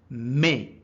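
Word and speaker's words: mais: say I'm sorry but remember but is called May in French m a i s I'm sorry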